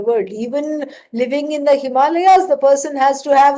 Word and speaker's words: Himalaya: go off to the Himalayas this is how we have to pronounce it right not Himalayas all right please don't do that and so Himalayas and